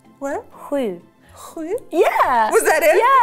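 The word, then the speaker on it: sju: How do you pronounce seven in Swedish? Hui. What? Hui.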